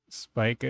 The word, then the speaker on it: Spica: Spica is pronounced like speaker. Okay, so Spica.